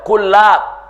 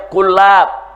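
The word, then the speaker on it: كُلّاب: Dia mengikuti thariqah Ibn Kullab, bukan Kilab ya, Kullab, bacanya Kullab pakai tasdid, saudara.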